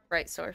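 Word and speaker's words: Brightsoar: it is the uh bright sore family how's it both right b-r-i-g-h-t sword like you're soaring through this guy s-o-a-r well um I can't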